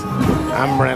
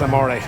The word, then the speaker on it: Amore: I think it was like, that's Amren or something like that, but that's Amore.